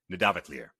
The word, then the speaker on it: Nidavellir: And so the double L has a TL sound. So this, I believe, would be Nidavellir.